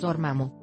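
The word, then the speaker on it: Namor: copyright schwager mx dormán para nosotros no suena tan complicado pero para los hablantes del inglés este nombre da un poco de problemas la pronunciación correcta es norma mo imagen marvel 6 11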